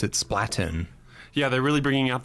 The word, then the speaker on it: Splatoon: out loud in general I suppose I say Splatoon like platoon right yeah exactly I've got